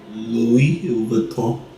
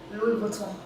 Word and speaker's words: Louis Vuitton: How you pronounce his name? Louis Vuitton. Louis Vuitton.